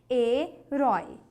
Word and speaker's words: herói: Herói. Oi. Esse oi é um ditongo aberto? É. Mas é paroxítona? Ela é uma oxítona. Você fala herói. Herói.